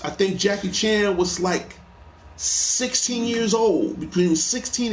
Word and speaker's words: Li: Jet Li, and by the way, their pronunciation is different because Bruce is Lee, Jet is Li.